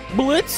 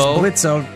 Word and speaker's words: Blitzo: Blitzo. Here's Blitzo. Don't say the O because the O is silent.